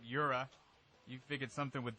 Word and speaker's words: URA: I hope I pronounced it right. Yura.